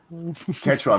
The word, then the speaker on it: Quechua: Quechua, mate.